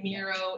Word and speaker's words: Miro: It's like, you say Miro, it's like Hero is what they pronounce.